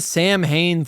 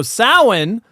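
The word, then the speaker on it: Samhain: Halloween 2 like why did they have the Sam Hayne thing y well so as it's pronounced sa apparently so sin is it it from what I've read sin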